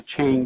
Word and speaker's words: Chang: You know, everybody comes over here and says, I want a Chang beer, C-H-A-N-G. Well, they don't have that A sound. It's an A sound, Chang, and it's the word for elephant.